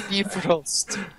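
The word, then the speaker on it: Bifröst: Wait, really? It's beef roast? Yes.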